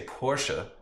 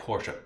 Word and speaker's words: Porsche: In Germany, the last letter E is always said. So like the Americans say Porsche, like Porsche, it actually, oh, it's wrong. It's like Porsche.